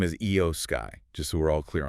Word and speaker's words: Iyo Sky: Okay, but first, just quickly, pronunciation. The champion, her name is Io Sky, just so we're all clear on that one.